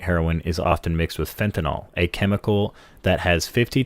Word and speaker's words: fentanyl: case in point, heroin is often mixed with fentanyl, a chemical that has 50 times more potent than morphine.